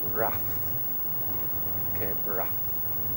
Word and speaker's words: Cape Wrath: The locals call it Wrath, Cape Wrath, as it's spelt.